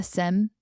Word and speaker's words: SIEM: only way it should be called is the SIM. Okay, Anton? I am sure there's some kind of Gartner approved pronunciation from 2005, but I just say SIEM. Okay, so we'll stick with SIM.